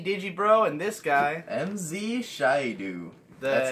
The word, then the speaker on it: Shaidu: by me, me, Digi Bro, and this guy MZ Shyu. That's how it's pronounced. Beat. It's not Shidu.